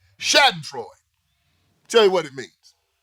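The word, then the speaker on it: Schadenfreude: German word I'm g spell it for you it's spelled s c h a d e n f r e u d Shad androy tell you what it means saden FL is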